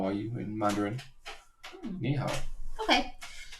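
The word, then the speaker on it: 你好: Ni hao. Ni hao. Are you sure? Yeah, because I googled the pronunciation.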